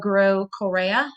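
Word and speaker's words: Groh-Correa: and encouragement from them my name is grow Coria I go by Professor Correa and my email and it's spelled sa ra h dot grow is gr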